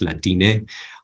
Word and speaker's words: Latine: And similarly, Latine, with an E on the end, pronounced Latine, it's also an inclusive term supporting that trans gender nonconforming people.